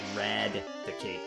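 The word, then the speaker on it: Raticate: And it sounds like Radicate, like eradicate. But that is actually, I believe, where his name comes from. It's a combination of rat and eradicate, I believe.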